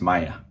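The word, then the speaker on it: ماية: Anna eyes Maya. So Yes. I want water. Anna eyes Maya. So that's another easy word. I don't think we've gone over that. Maya, like the Water. Spanish name Maya, means water.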